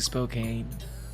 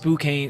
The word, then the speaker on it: Spokane: Oh, I I know it's not it's I know it's not pronounced spokane. Spokane is Spokane.